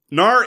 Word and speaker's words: Knarr: I actually make the comparison because in much the same way that the G in gnarly is silent, there's a K at the top of Knarr, which is silent.